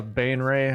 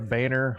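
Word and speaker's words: Baenre: I thought it was interesting too that they made Minthara a Bainray, or a Bainer, however you want to pronounce that. I think it's Bainray.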